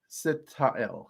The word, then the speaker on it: Sitael: So, yeah, I want to say SIT-AH-ELL, which I think is a freaking candle. But it's SIT-AH-ELL.